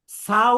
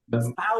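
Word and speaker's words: ثاء: পাতলা হবে ফা ছা বললে ভুল হবে কানা ছা ছা বলা যাবে না ছা বলা যাবে না সাও বলা যাবে না ছাও বলা যাবে না ছাও বলা যাবে না বলতে হবে ছা আর এই ছা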